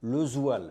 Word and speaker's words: Lesoille: un drôle de parcours et qui s'appelle Lezoil. Je l'ai bien prononcé.